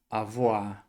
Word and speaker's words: avoir: Quando a gente tem o o com i, no francês, muitas vezes vai ter o som de oa. Então o verbo não é avoa, ele não se escreve a voir. A gente vai fazer esse o com i, o som de oá.